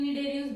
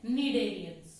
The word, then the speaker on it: Cnidarians: I am saying Cnidarians because C is silent. हम इसको Cnidarians नहीं बोलते हैं बच्चे, हम इसको क्या बोलते हैं? Cnidarians.